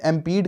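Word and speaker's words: impede: तो हमारा इसमें प्रोनाउंसिएशन भी आ गया, आई एम यानी मैं हूँ, और पीने दे यानी पी डे, यानी एम्पीड।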